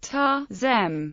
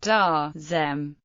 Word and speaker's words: Taoism: Taoism should be pronounced Ta-zem or Da-zem. Daoism is pronounced Da-zem, but English speakers disagree whether Taoism should be Da-zem or Ta-zem.